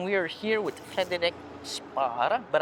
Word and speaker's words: Spåre: are here with fedick Spar but I think it's pronounced spora so maybe my first